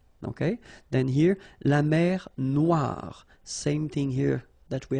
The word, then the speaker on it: Noire: Then here, la mer Noire. Same thing here that we had previously. Final not pronounced, okay? And then OI, remember, wa, noir.